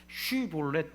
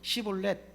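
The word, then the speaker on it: 쉽볼렛: 그래서 발음해봐 그래가지고 쉬볼렛 이렇게 발음 못하고 시볼렛 이러면 너 에브라임 사람이네 하고 다짜고짜 죽였다는 거예요.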